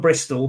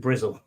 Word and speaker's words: Bristol: from he's from breast it's from Bristol but everyone calls it bristle all right our good